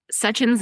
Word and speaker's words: Sachin: Sachin's name is spelled s a c h i n and people always mispronounce it and his cheesy line is, "My name is Sachin because I'm such an awesome guy."